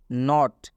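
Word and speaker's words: knot: हो रहा है clear next example नॉट नॉट में भी के के बाद से एन आया हुआ है आप देख सकते हैं नॉट में भी के के बाद से एन आया हुआ है इसलिए के का उच्चारण नहीं किया जा रहा है के हम नहीं पढ़ रहे हैं स्पष्ट यहां पे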